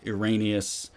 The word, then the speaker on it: Irenaeus: You have proponents like Papias, Justin Martyr, and Irenaeus, or Irenaeus, however you pronounce it.